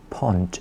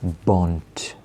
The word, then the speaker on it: bont: but because the word pont is feminine, it's not going to be pont, it's going to be bont with a B, a bont. A bont.